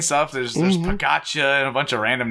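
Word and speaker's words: Pogačar: it's Pagacha. Yeah, That's how it's pronounced.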